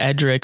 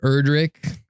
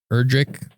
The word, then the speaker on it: Erdrick: It's actually like Erdrick, not necessarily Edric. It's Erdrick.